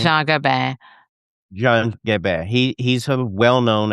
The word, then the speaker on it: Jean Gabin: this famous actor's character, John is it John Gabin? How do you say his Yeah, name? Jean Gabin.